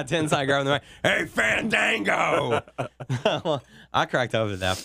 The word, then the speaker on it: Fandango: Yeah, Sweet Tea getting ready to face Fandango. And, you know, he comes out and says, you know, since you butchered my name, basically, I'm not going to come.